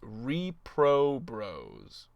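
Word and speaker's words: Reprobros: for 17 months uh it's pronounced repro bros i'm gonna say repro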